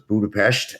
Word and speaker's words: Budapest: team is in Budapest uh the S is pronounced so it's Budapest and you have about 120 folks in Hungary